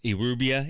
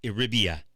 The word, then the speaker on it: Euribia: I was saying Euribia. It's Euribia. It's with an I, not a U.